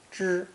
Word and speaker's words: 知: This character is pronounced first tone. 知, 知.